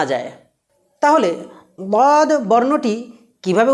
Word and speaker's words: ض: প্রিয় বন্ধুরা, এবারে যে বিষয়টি বলবো খুব গুরুত্ব সহকারে মনে রাখুন যে ওয়াদ বর্ণটি উচ্চারণের সময় এক পর্যায়ে তার আওয়াজটা জিহ্বা থেকে ডাইনে এবং বামে একটা পর্যায়ে ছড়িয়ে পড়বে।